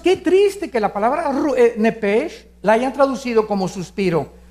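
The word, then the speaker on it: נפש: la palabra alma es nepes en el hebreo apúntalo nepes se pronuncia nepe porque la ch en hebreo es nep y la palabra espíritu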